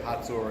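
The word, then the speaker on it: Hazor: huts or heard of this it was a haze or in Hebrew it's a Kotzur it's the way so spoke to you that I say hot sore and you really advise her to pronounce haze or haha and whatever just this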